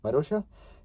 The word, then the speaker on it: Marussia: So yeah, pronounced Marussia.